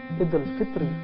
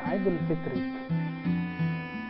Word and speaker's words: Idul Fitr: Namun dalam tradisi qiraat, tradisi pembacaan teks Arab, ketika ada suatu ungkapan huruf yang di belakangnya berbaris di bawah tetapi tidak ada ya, seperti Idul Fitr, tidak ada Idul Fitri, tidak ada kata ya di belakangnya, maka kita bacanya Idul Fitr, bukan Idul Fitri.